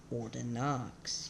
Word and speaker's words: Ordinox: Secondly, my last name is spelled Ordinox. Yeah, it's pronounced Ordino.